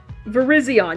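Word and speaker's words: Virizion: Am I pronouncing this right? I'm going to I'm going to lose my brain here. Uh, there it is. Verizion. Yes, I'm pronouncing it right.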